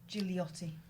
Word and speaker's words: Gigliotti: Gigliotti. Oh, there's a G there. You don't pronounce it next to an I do.